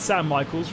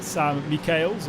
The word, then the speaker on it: Sam Michaels: but uh thank you we can now say it's sam michaels rather than sam mikhail's or anything else that was really interesting